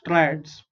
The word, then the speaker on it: triads: try means three and how do you pronounce it tris try eds is ads okay try ads triads so doba general made